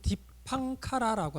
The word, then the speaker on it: 디팡카라: 연등불은 이제 우리가 그 인도 말로는 디팡카라라고 합니다. 디팡카라.